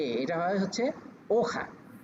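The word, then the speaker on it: hoja: দেখেন এখানে আবার একটু একটু ভিন্নভাবে উচ্চারণ হয়। এটার এইচ ও জে এটা হয় হচ্ছে ওখা ওখা ওখা দে পাপেল তার মানে হচ্ছে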